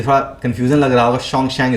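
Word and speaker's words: Xuanzang: China, अभी थोड़ा confusion लग रहा होगा, शोंगशैंग इसको पढ़ेंगे हम, जो स्पेलिंग आपको यहाँ दिख रहा है शोंगशैंग, इसको आप याद रख लीजिएगा।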